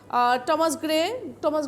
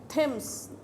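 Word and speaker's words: Thomas: আচ্ছা, ওই যে এই প্রসঙ্গে মনে পড়লো, ইংল্যান্ডের নদী আছে টেমস নদী, থেমস না টেমস, বানান কিন্তু THAMES, ঠিক আছে, উচ্চারণ হলো টেমস। টমাস গ্রে, থমাস না।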